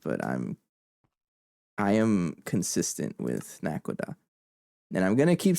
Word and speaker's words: Naquadah: lot of pronunciations, but I am consistent with Naquadah. And I'm gonna keep saying it. Phoenix, go away. Naquadah. You can Google it. It's pronounced Naquadah.